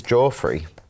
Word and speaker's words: Joffrey: This is Joffrey. It's not Jeffrey, he says pronounced Joffrey.